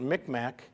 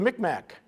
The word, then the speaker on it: Micmac: We pronounce it Micmac.